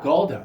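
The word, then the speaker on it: Golde: And is it Goldie that I'm pronouncing it? Golda.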